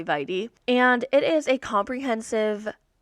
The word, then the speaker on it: vitae: CV stands for curriculum vitae, or there's some other pronunciations out there, but I just say vitae.